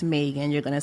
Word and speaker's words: Megan: My mom would say, no, it's Megan.